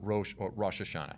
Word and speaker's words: Rosh Hashanah: you will know is rosh hasha okay so rosh hashanah is usually how it's said now this is